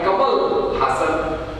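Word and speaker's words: Kamal Haasan: कलाकार है तमिलनाडु से, कमल हासन। ये सही प्रोनाउंसिएशन है उनका, कमल हासन। पहले मैं कहता था ये शायद कमाल हसन है, कमाल हसन है, कमल हासन का मैं कंफ्यूज रहता था।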